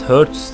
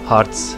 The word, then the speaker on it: Hearts: serisinin 5 bölümüyle karşınızdayım bundan önce valiant HS diye telaffuz ediyordum Ama Hearts diye telaffuz ediliyormuş arkadaşlar çok takılmaya gerek